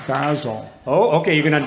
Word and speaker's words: Basil: That would be Basil Biggs. Correct. All right. Very good. Well done. Although I think it's pronounced Basil.